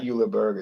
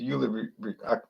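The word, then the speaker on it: Julebryg: It's not Juleburger. It's Julebrig.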